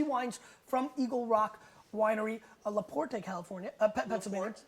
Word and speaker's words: Laporte: from eagle rock winery laporte california the port do not pronounce the e at the end la porte uh pennsylvania